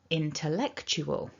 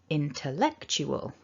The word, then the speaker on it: intellectual: primary or main stress so we've got two stresses in this word because it's a long word so in terms of how much effort you put into saying these syllables the most strong should be eck the second strong should be in and then the other syllables should be a little weaker so i want you